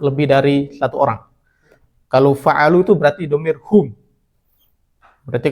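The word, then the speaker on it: فَعَلُوا: Karena nggak mungkin kalau tanda fathah nanti lucu bacanya fa'alau. Mereka nggak ada kata fa'alau. Ini jadinya fa'alu.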